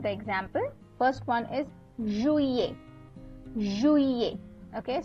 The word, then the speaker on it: juillet: First one is juillet. Juillet. Okay. So here the ILL is pronounced as E. Okay. So that's why you pronounce it as juillet, right?